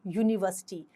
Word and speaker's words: university: We do not use an before university and uniform because the U in university and uniform is pronounced as U, a consonant sound.